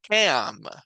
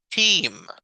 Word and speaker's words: team: y la a pero no se pronuncia cam sino es team la a es muda y la e es la única que conserva el sonido largo y así sucesivamente podemos